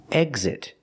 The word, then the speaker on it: exit: Exit and example. Here the X makes the gz sound with a voice. G, z, together, gz. Exit, example.